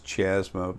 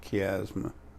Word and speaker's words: chiasma: about the optic chiasma or it looks like it's Chashma but i understand it's pronounced chiasma anyway before I get started